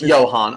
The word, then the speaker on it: Johan: If in Africans, if it's a J, it's a Y sounding. So, it's Johan.